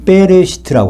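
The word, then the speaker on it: בראשית: 이것이 베레시트라고 합니다. 구약 성경은 히브리 말로 되어 있는데요. 유대인들은 창세기를 베레시트라고 읽어요. 베레시트 책 좀 나한테 갖다 줘. 이렇게 베레시트. 이 베레시트는 바로 베라는 전치사와 레시트라는 명사로 구성되어 있습니다.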